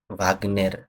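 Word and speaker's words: Вагнер: এই যে এখানে ভাগ্নেরটা ওয়ার্ডটা আপনারা তো নিউজে শুনছেন অনেক সময় যে রাশিয়ার ওয়াগনের গ্রুপ বলে না, যে ওইটা হচ্ছে ভাগ্নের। এই উচ্চারণটা ভাগ্নের দেখছেন, ভাগ্নের যেই একটা প্রাইভেট যে আর্মি ছিল রাশিয়ার, এখনো যেটা আছে, সেটার নামটা হচ্ছে এটা ভাগ্নের।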